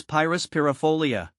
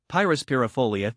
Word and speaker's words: Pyrus pyrifolia: Let's face it, Pyrus Pyrifolia can be a mouthful. Here's a breakdown to help you master the pronunciation. Pyrus, the emphasis is on the first syllable, with a long I sound.